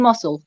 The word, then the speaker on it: muscle: the g in ignorant in muscle s and c is s in muscular it is